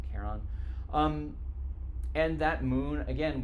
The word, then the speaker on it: Charon: that name is Caron sometimes you'll hear people say Sharon or even pronounce it almost like Karen I say Karen um and that Moon